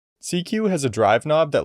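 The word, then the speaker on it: SieQ: tone some more so i'm going to add cq into my effect chain this plugin is modeled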